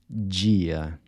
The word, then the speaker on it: dia: So you see the “d-i” at the beginning of words is also pronounced like the “j” in judge.